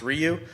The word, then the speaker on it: Ryu: to talk about that's in Python is called Ryu or Rayu. I'll probably say Rayu and slip up because when I was looking at the other day, I forgot it's actually pronounced Ryu.